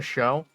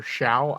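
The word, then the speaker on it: Shough: low cost type pick, Tyler Show, or Shao. I don't know how to pronounce it, to be honest. I think it's Show. From Louisville.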